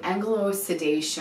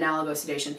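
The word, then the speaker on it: analgosedation: this whole idea of what they're calling anglo-sedation or analogo-sedation. You might hear it pronounced either way, but I pronounce it analogo-sedation.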